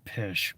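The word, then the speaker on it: Pysh: that's headed up by Preston pish pish it's spelled p-y-s-h Jim Rickards just a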